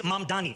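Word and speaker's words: Mamdani: And furthermore, the name is Mandani.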